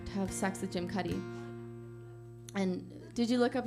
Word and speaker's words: Cuddy: And I realized that Jim Cuddy, the name, rhymes with slutty.